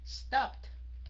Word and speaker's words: stopped: Right, thành ra nó có cuối cùng là chữ P. Nó sẽ phát âm thành chữ T. Stopped.